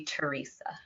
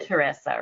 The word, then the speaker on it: Teresa: she pronounces it but uh Canadian American way is usually Teresa and then you said Teresa right that's yeah European all right let let's